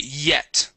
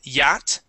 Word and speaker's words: yet: Yet. Okay. Here you had said yat, yah. Okay. It's going to be a short E sound.